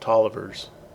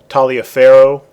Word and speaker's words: Taliaferro: is kind of spell if you said this phonetically you'd probably say some you know somebody would would probably say taliaferro that's the way i read it for some time but this was this was pronounced toliver and that's a that's